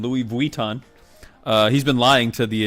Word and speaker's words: Louis Vuitton: Is Louis Vuitton, which is the correct pronunciation. Louis Vuitton.